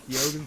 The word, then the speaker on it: Keoghan: No, it actually is Keoghan because he pronounced.